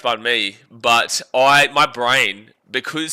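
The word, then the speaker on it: bánh mì: So we have this joke here on the channel that it's pronounced bun my and obviously it's pronounced bunme but I my brain because so for so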